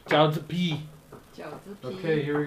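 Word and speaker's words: 饺子皮: Jiaozi pi. Jiaozi pi.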